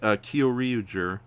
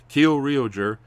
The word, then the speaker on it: Kyoryuger: Yeah, or I know I'm going to butcher the name, so please help me correct it. Kyoryuger. Kyoryuger. Kyoryuger. Yes. Kyoryuger.